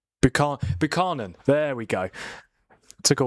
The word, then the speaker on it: Buchanan: Buchanan? Or Buchanan? Buchanan.